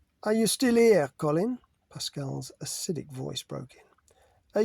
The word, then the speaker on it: Pascal: "Yes, well, Pascal," he pronounced her name with the correct French inflection, standing up and brushing off imaginary droplets.